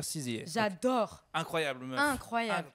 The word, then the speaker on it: SZA: CZA, il faut dire CZA.